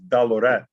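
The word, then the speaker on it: dalurat: But when you want to make something plural, you add A-A-T to it, which is pronounced at, like rahubat. That's greetings. Okay. So you take dalor and add AAT at the end of it, and it's dalorat, and that means dollars.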